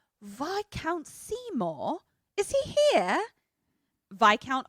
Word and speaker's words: viscount: And she's like, Viscount Seymour? Is he here? Viscount also is spelled discount, but with a V, but it's pronounced Viscount.